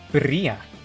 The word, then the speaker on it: birria: Birria.